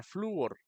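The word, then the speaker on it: flúor: se pronuncia la palabra fluor fluor se separa fluor Sí entonces en este caso es otra palabra grave si flu or es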